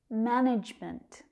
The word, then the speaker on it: management: Management. That consonant sound is tricky. J, j.